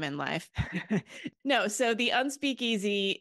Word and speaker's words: Unspeakeasy: So I'm looking at some of the information here about Unspeakeasy. Is that how you pronounce it? The Unspeakeasy, yes.